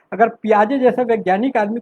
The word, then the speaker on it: Piaget: उसका नाम है पियाजे, PIAGET। मेरा उच्चारण ठीक नहीं है इसलिए स्पेलिंग बता रहा हूँ।